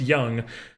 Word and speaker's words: Jung: Or I keep calling him Jung because it says Jung. It looks like it's pronounced Jung, but I know it's Young. Josh Young will come over and play some platoon third base for us.